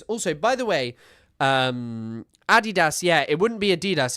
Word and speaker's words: Adidas: Also, by the way, um Adidas. Yeah, it wouldn't be Adidas. It would be Adidas. Adidas because it's named after someone called Adidas. Adult Dler. Adidas. So, Adidas, not Adidas.